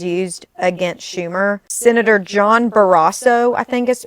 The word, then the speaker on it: Barrasso: Senator John Barrasso, I think is how it's pronounced, Republican from Wyoming, took to the Senate